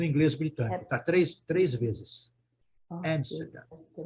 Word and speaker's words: Amsterdam: Amsterdam. Amsterdam. Amsterdam. Amsterdam. Amsterdam. Amsterdam. Aqui ficou claro, gente, olha, muito claro. O inglês britânico, ele acentua a palavra aqui, tá?